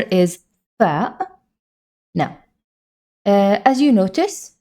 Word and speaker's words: ف: Now, as you notice, the fa is produced from the lips. It's an easy letter. It's very common in almost every language, and it's like the F in English, like find or something like that. Nothing new, same pronunciation, same everything.